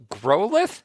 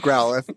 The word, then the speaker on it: Growlithe: Okay, that's why I can't pronounce it. Okay, Superstep said Growlithe? Is that how you'd say that? Oh, Growlithe. Growlithe, thank you.